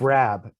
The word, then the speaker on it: Raab: sense craw yeah because no it's not pronounced Rob oh it's not no